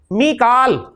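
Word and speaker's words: ميكائيل: मीकाल, कुरान में मीकाल का है, मिकाइल भी प्रोनाउंसिएशन है इसकी, तो मीकालु मीकाला मीकाला।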